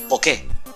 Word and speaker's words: Poké: El dinero que se utiliza en este mundo se llama Poké. Hay un acento en la E.